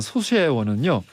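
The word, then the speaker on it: 소쇄원: 조선의 별서 정원으로 유명한 소쇠원은요. 발음이 어렵습니다. 소쇠원. 서세원 아니죠? 소쇠원.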